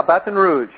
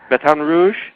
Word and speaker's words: Baton Rouge: all that I know you are you're in Baton Rouge did I pronounce that right yeah Baton Rouge Baton Rouge that's how they say it Baton Rouge Baton